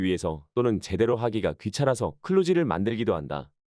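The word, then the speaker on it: kludge: 발음을 유도하는 단점이 있다 클루지 클루지를 제대로 발음하자면 슬러지 슬러지지가 아니라 휴지휴지 거대한 애 가깝다 몇몇 사람 들은이 단어가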